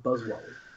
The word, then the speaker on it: Buzzwole: Where's the D in the word Buzzwole? It's a magic D. Brilliant. Silent D. Your D is silent.